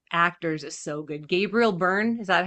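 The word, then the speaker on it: Byrne: Gabriel Burn, is that how you pronounce his name? Yeah. Burn.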